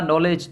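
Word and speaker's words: knowledge: यानी एरर्स आते हैं ये when to consonant comes together mostly first one will be silent हम साइलेंट वर्ड्स की बात कर रहे हैं कि अक्सर हम पढ़ते हैं जैसे हमने पढ़ा नॉलेज तो ज्यादातर लोग पहली के को भी पढ़ते हैं के नॉलेज भी पढ़ते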